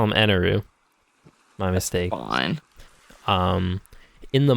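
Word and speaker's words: Enel: no they call him eneroo my mistake um in the manga it's spelled an l and but in japanese it's pronounced enaru because it's japanese so i think it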